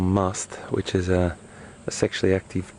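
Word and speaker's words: musth: Now if he was in something called must, which is a sexually active period where he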